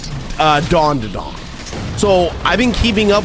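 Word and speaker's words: Dandadan: By the way, King gave me so much shit about it because supposedly I was pronouncing it wrong. Because I was calling it Dan to Dan the way it's fucking spelled.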